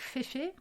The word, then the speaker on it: Féfé: aléatoire je vais commencer par citer la marque Féfé féfice ça s'écrit F E F e pour fait en